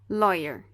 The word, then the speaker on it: lawyer: Aqui, por exemplo, em lawyer. Lawyer. Aqui nós temos duas sílabas, né? Lawyer. E aqui o Y iniciou a segunda sílaba. Então, aqui ele é considerado também uma consoante.